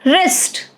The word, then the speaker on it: wrist: Wrist, silent W.